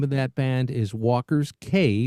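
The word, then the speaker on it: Walker's Cay: And the name of that band is Walker's K. We pronounce it K, but it is Key, but we say K, C-A-Y.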